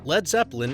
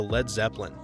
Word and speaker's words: Led Zeppelin: over by a train Led Zeppelin intentionally misspelled lead as lead they were concerned that lead would be pronounced like the Warriors blew a 3-1 lead to the Cavs rather than lead like